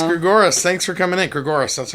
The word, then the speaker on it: Gregoris: thanks for coming in gregorus that's how you pronounce it yeah like Dolores right gregorus gregorus right yeah um tell